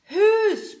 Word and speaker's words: who: Écoutez bien la prononciation, c'est un H expiré.